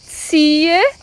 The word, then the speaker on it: ziehe: Eu quero muita atenção para a pronúncia, porque a primeira sílaba é Z-I-E, vai ter som de T-S e um I longo, T-S-I. Ah, e o H também faz parte da sílaba e ele é mudo. T-S-I, T-S-I.